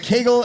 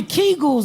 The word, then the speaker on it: Kegel: Do you do ever the Kegel? Have you ever tried the Kegel? Oh, I tried the Kegel, right. Kegel or Kegel? I don't know. I'm Jewish, so everything rhymes with bagel.